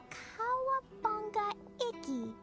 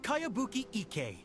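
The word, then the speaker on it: Kayabuki Ikki: By Kawabunga Iki. Yoimiya, this is a really What is that strange name? Who's this Kawabunga? It's pronounced Kayabuki Ike.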